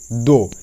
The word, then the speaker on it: though: যেমন দো, THOUGH দো, এখানেও OU এর পর GH আছে, সেই জন্য GH উচ্চারণ হলো না।